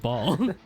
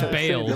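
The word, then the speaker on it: Bayle: I said the name wrong, but now I have to stick with ball. It's Bale, but I have to stick with it.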